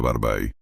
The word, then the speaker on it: Babe: Y los niños de la calle lo llamaban Babe. Se pronuncia Barbai, un término cariñoso para papá.